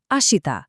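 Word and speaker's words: あした: भोलिको पालो आयो भोलीलाई जापानिजमा भनिन्छ आशिता मेरो उच्चारण सुन्नुस आशिता ल अब स्क्रिनमा हेरेर सँगै भनौ।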